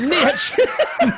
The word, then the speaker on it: niche: niche I don't know here in Alabama it's a niche its niche it rhymes with it and girl you got